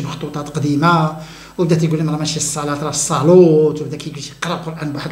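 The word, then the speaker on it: الصلاة: الكلمه لا يغير النطق الصلاه تكتب بالالف وتكتب بالالف فوق الواو لكن تنطق الصلاه وليس الصلوت ناس ما تولوش القران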